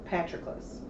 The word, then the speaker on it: Patroclus: And there's the two characters, Achilles and Patroclus.